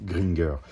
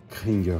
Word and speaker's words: Cringer: et du prince Adam c'était un petit peu trompé dans la première saison et avait prononcé gringer et beaucoup d'entre vous ont gardé cette comme moi à l'époque ce nom en fait le tigre s'appelle kringer les amis cring en fait donc